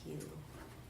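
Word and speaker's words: Hsu: Mindy, her last name is spelled H-S-U. I think it's just pronounced Hugh.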